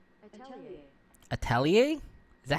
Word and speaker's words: atelier: How to pronounce Atelier? Give me 1 second. Can I not? Atelier.